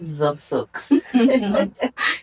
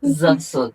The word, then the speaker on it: Zock-Sock: Okay, so the name is Zobzok. Zobzok. It's not that hard to pronounce. Zobzok. Zobzok. It's Z and S.